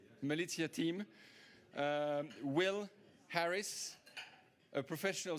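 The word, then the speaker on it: Malizia: What best having one of the skippers that has been co-piloting one of those boats with the Malitzia team. Do I pronounce that correctly? Malitia team.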